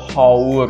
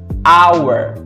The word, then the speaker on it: hour: Jadi tadi kita cek haur itu ternyata kita bunyikan dengan hour.